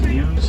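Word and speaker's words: gnu: Wildebeest are also known as ewes. That's because of the sound that they make. Written G and U, pronounced U.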